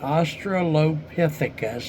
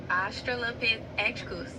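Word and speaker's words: Australopithecus: So before the well there was the Ostrolopithecus. Is I'm pronouncing that right or not? You're close. It's pronounced Ostrolopithus.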